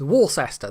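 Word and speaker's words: Worcester: Bishop of wer wster Worster Wester yes it's Wester that's how you pronounce it some English place names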